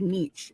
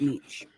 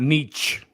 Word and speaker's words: niche: it's only a selected Niche a selected hate niche that's it there's not many of them it's not meech it's a niche like sh although it's spelled with a CH it's pronounced Niche it's a in order